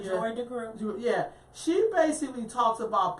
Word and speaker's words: Joy DeGruy: I mean, Joyce DeGruy. I think I said her name wrong. Yeah, Dr. Joy DeGruy.